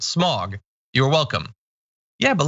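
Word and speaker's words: Smaug: It should be pronounced as if an English person was saying it. Smog.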